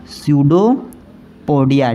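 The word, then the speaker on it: pseudopodia: यहाँ मैं लिखता हूँ स्यूडोपोडिया, ठीक ना। ये पी साइलेंट होता है, ध्यान रखना इस चीज़ को।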